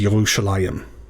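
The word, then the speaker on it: ירושלים: translation of the hebrew the underlying hebrew is yerushalayim which i think sounds a lot cooler but it is harder to pronounce for us english speakers all right next up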